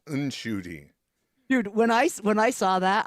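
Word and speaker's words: Ncuti: Oh yeah, because he had been saying it was Shooty, and then his mother corrects him and says, "No, child, it's Unshooty."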